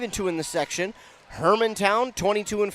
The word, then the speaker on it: Hermantown: second be behind that's how you say it Hermantown Hermantown yes also in this section so they